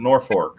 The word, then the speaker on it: Norfolk: like norfolk nebraska but they pronounce it nor fork up there uh according to them